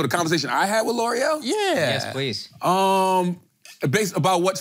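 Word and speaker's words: L'Oréal: You know Laurel? That's my girl. I love L'Oreal. Okay, L'Oreal.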